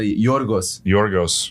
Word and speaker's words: Yorgos: I have a buddy named Yorgos. I think we are. Name. Can you guys give us? That's how you pronounce his name, brother. Yorgos.